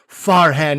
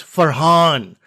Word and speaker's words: Farhan: offended on his behalf it's not farhan it's for han now am i at